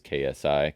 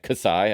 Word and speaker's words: KSI: Logan Paul to safety, and it is KSI. Kasai, I would have said if you didn't tell me it's just the name, the letters.